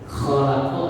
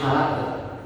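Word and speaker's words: خلق: Hati-hati kalau ngaji. Kholaq itu maaf ada nya. Kalau bahasa gampangnya kayak orang menegur, ngorok. Karena kalau bacanya nggak ada nya, nggak ada ngoroknya, jadi bersih, jadi halak. Ada yang bacanya kholaqo, ada yang bacanya halak, beda. Kholaqo artinya menciptakan. Kalau halaqo artinya mencukur.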